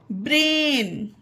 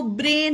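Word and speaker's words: brain: उसका उच्चारण ए था, इसमें ए के बाद आई है तो भी इसका उच्चारण ए होगा तो ब्रेन होगा, ब्रान नहीं होगा, ब्रेन।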